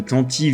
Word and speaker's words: Tantive: Le mot Tantive vient du terme anglais archaïque Tantivy, d'où la prononciation, un galop rapide, un cri de chasse à courre, le gibier poursuivi par le chasseur.